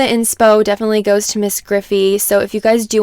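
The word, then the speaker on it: Gryphi: other builders but anyway her name is miss griffey it's spelled ms and then griffey g-r-y-p-h-i so she's here on youtube she's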